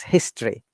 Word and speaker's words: history: So history, the pronunciation history, though it is spelled history, but it's history. History. History. Right. History. You can see the schwa sound, history. A more modern approach incorporating phonology was introduced in the 19th century.